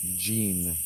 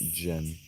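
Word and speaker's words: Djinn: And that word is pronounced Jean, not Jen.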